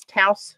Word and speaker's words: Taos: one I used was Taos sunset ta OS pronounced and how you feel free I always get it wrong but I think they said it rhymes with blouse or house ta OS let's see